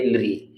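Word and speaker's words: ऌ: ये आपका ये लिरी, ऐसे बोला जाता है, लिरी।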